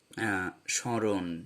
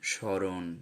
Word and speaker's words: স্মরণ: ম উচ্চারিত হচ্ছে না, যখন ম উচ্চারিত হয় না তখন সে তার আশ্রয়ী ব্যঞ্জনের স্বরধ্বনিকে সানুনাসিক করে দেয় এবং আমরা সেটা চন্দ্রবিন্দু দিয়ে লিখি। এবং যখন আমরা এগুলো উচ্চারণ করি তখন কিন্তু একটু নাকি উচ্চারণ হয়।